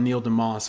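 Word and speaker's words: Neil DeMause: If you don't know about Neil DeMoss, follow Neil DeMoss. It's spelled like DeMause.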